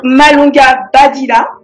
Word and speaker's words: Malonga Badila: Donc Malonga Badila, je prononce bien, il y a deux E hein. Tout à fait, c'est parfait. C'est ça.